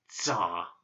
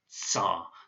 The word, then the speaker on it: Tsar: in 1917, and so that ts is the Tsar, and that's why sometimes you see Tsar spelled T-S-A-R in English, and sometimes it's spelled C-Z-A-R, because it's different ways to try and put forward the sound ts.